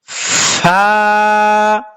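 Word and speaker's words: ف: ফুফু উচ্চারণটা সুন্দরভাবে করি কিন্তু কোরআনের মধ্যে যখন ফা হরফটা আমরা পড়তে যাই তখন আর ফা হরফটাকে আমরা পাপ বাংলাতেও ফা হরফের উচ্চারণ হবে যেমন একটা আছে পেপে পেয়ারা এখানে যে পটা উচ্চারিত হয় সেটা না বড় ফানি ফালুদা ফানুষ এই যে ফাটা এই ফা আর এই ফা পুরা সেম উচ্চারণ কিন্তু আমরা তো মানে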